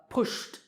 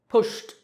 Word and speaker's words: pushed: Pushed, pushed. Here the last sound is sh, so pushed.